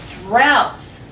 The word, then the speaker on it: drought: pronounced ooh and then the last pronunciation is drought o u g h can be pronounced like ow what is a drought